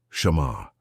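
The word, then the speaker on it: שמר: Pronounce it softly with me wherever you are. Shamar.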